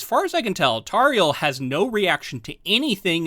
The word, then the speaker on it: Tauriel: Tauriel, yeah.